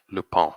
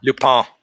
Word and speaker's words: Lupin: It's pronounced Lupin. Lupin.